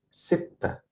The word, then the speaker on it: ستة: And ستة, I have here like small w above the letter ta, this. So this means that it is pronounced, the letter is doubled, like it's pronounced like double T. So it's ستة.